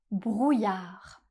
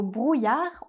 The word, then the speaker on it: brouillard: Et dans le mot brouillard, on ne prononce pas le D final. Comme très souvent en français, on ne prononce pas la dernière consonne du mot.